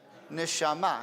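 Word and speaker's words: נשמה: Neshama. How do you say breathing? Neshima. Neshama, soul, neshima, breathing. It's the same word.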